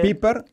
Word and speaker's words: Pieper: Piper. Ahí. Que es Pieper, se escribe Pieper, era un filósofo alemán.